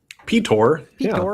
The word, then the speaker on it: Ptor: Ptor. That's the proper way to pronounce my name. People don't really know that. Um, I just usually let people say Peter because it's more natural.